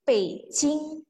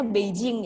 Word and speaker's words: Beijing: pe sing nope sing mungkin teman-teman merasa bingung ya bukannya tulisannya tuh Beijing bukan harusnya bacanya Beijing ya Nah iya walaupun di pingin atau penulis hanya itu Beijing pakai JNE tetapi dibacanya adalah pssing P singa ibukota negara